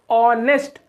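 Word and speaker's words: honest: नेस्ट नेस्ट होता है नेस्ट नहीं नेस्ट क्या ऑनेस्ट नेस्ट होता है तोरा आका साउंड आ रहा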